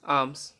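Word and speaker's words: alms: ए एल F calf A एल एम एस आर्म्स okay अब एन कब silent रहेगा एम के बाद आया हुआ एन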